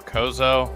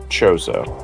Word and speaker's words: Chozo: Is it pronounced Chozo or Kozo? Am I butchering it? It's Chozo. Chozo, like chosen.